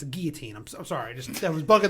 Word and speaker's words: guillotine: You pronounce it correctly in French. You would simply say guillotine.